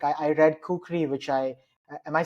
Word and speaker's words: kukri: yeah yeah but I a nepali friend of mine said it's kukuri kukuri okay yeah kukuri but we can say kukri yeah so yeah I